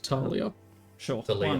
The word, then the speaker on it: Thalia: Thalia. Pronounced Talia.